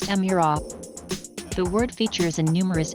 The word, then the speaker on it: Emira: the arrival of a family of new vehicles pronounced emirate the word features in numerous ancient languages and